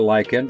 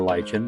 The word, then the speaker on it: lichen: And this particular lichen, or lichen, depending on, like I said, who you talk to and how they pronounce it.